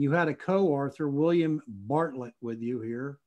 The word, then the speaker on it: Bartelt: And you had a co-author, William Bartlett, with you here, or Bartelt, is it pronounced? Yes, Bartelt, uh-huh.